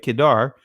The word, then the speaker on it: Kedar: see it right here kedar and kedar and that's how you pronounce right kedar but notice what it